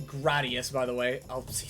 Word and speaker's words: Gradius: Uh, precisely pronounced Gradius.